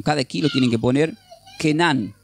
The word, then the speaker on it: Canaán: Canaán proviene del hebreo y tiene significados que parecen raros significados, pero se pronuncia como con cada kilo tienen que poner kenan. se pronuncia Kenan y significa indica tierra